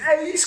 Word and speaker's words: Sammy S: Alors quand on connaît John Lanny, dit anciennement Sammy Ace, Sammy Ace pour certains, Sammy S pour d'autres, c'est Ace qu'il faut prononcer.